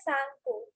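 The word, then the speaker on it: Tsangpo: The Sanko, not the Sanko. T is silent here.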